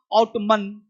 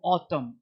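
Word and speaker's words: autumn: देखो एम के पश्चात एन साइलेंट रहता है। बहुत सारे लोगों को दिखाऊं, आउटमन, आउटमन, कॉलमन, कंडेमन, हीमन, नहीं पढ़ना है। यहाँ पे एन चुप रहता है, सब में एन साइलेंट है। साइलेंट को तो नहीं पढ़ना उसको। ऑटम, क्या पढ़ेंगे? ऑटम, column, condemn, him.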